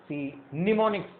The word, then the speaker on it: mnemonics: इसमें कई वर्ड्स करने की कोशिश करेंगे और निमोनिक्स, इसमें एम साइलेंट है अगर हम देखें तो इट्स a term in English for memory enhancement या मेमोरी का इंप्रूव करने के लिए।